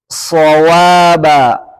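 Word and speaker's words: صوابا: Kemudian huruf shad yang tidak ada alif setelahnya shawaba, shawaba.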